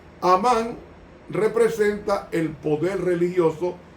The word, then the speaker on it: Hamán: Dos, está Amán, que se pronuncia Hamán en hebreo y significa magnífico.